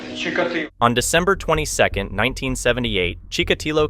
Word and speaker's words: Чикатило: По-украински произносится Чикатило.